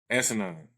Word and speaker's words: asinine: That's I use the word asinine, and it's emphasis on the first three letters.